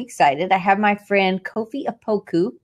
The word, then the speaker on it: Kofi Opoku: I have my friend Kofi Opoku, right?